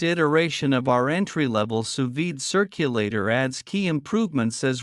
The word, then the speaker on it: sous vide: it for years and now you can too suid pronounced suid is a cooking technique that utilizes highly precise